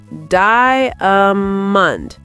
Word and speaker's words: diamond: Word number 9, diamond. Diamond. 3 syllables? No, 2 syllables. Diamond. Diamond, not diamond.